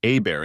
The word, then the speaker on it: Hebert: she said my name is Hebert pronounced AAR in cjun country I was just thinking